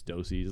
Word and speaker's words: deuces: Uh they had that debate uh for quite some time on their show about how it's spelled deuces, but it's dosies.